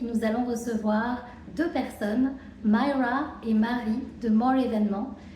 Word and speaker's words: Myra: Et j'ai Myra. Est-ce que j'ai bien prononcé? Myra, mais en français, en anglais, c'est international.